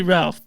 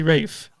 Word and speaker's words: Ralph: Rines yeah yeah I in England they don't say Ralph they say Rafe which is yep okay